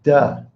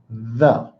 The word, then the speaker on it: the: Do not say duh. It's the. And when you first learn to speak, you're going to have to use your tongue. The. I don't have to. I say the. Okay? You're going to need to. Because if you say duh and not the, that's really going to change what people hear.